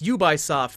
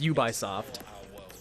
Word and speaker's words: Ubisoft: to put out yes you buy soft thank you mommy tudwig the iconic company that we all know is pronounced ubisoft and we're about to